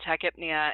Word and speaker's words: tachypnea: to say them but I was taught braid apnea tachypnea and hybrid Nia so that is how I teach my students pronounce these words so somebody if you